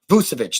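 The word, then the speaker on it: Vučević: So if you're able to get Nikola Vucevic, I can never pronounce his name right. I'll call him Vucevic. But Vucevic, there we go.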